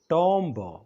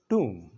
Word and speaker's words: tomb: نو ټوم مه وایئ د دې صحیح تلفظ دی ټوم TOOM بي ورکې سایلنټ ده بي ورکې نه ویل کېږي ما سره ووایئ ټوم